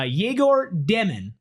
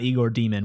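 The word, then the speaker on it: Egor Demin: We have uh Brent in the chat saying uh Jaigor Demon, which is how you pronounce his name. It's not Igor Demon, which I wish it was.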